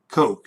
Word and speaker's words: Koch: the cook family although i've heard dave cook pronounce his name cook and i've heard the industrialist brothers pronounce it um coke the koch brothers actually